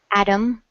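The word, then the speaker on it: atom: we have practiced with the word Adam a TT om Adam it sounds more like a d when we speak quickly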